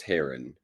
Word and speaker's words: Heron: So, it's pronounced Heron, but go ahead. Lenny Heron or Heron.